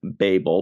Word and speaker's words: Babel: here it comes uh I checked out the pronunciation the top pronunciation is Babel but for our purposes we're going with Babel I like the Techno